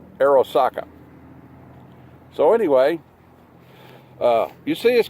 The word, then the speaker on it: Arisaka: I think it's pronounced Arisaka.